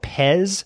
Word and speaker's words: Pez: and this is by Hiroyuki asada it's called Pez and it's spelled like the candy PE Z says Pez